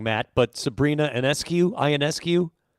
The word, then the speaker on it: Ionescu: We could name, and I always say her name wrong, Matt, but Sabrina Ionescu. Ionescu.